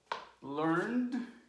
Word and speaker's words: learned: Learn, one syllable. Learned, one syllable.